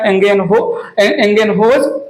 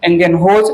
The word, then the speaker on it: Ingenhousz: आए, तीसरा नाम लिया मैंने जॉन एंगेन, HOUSZ, जॉन INGENHOUSZ, एंगेनहोज मेरा प्रोनाउंसिएशन है, कुछ और भी प्रोनाउंसिएशन हो सकता है।